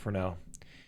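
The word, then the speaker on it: Fresnel: in PBR but it's it's spelled Fresno but the person is French so apparently pronounce it frel so there's a schlick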